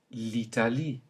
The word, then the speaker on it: l'Italie: In French, these are both simply pronounced I, as in l'Italie. Note the E at the beginning and at the end.